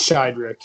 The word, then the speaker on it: Sheiderich: okay yeah that's fine it's it's shyri it's it's just yeah shyri it's pretty much just how it looks um it's pronounced just how you would expect it to be if you if you look at it but I get a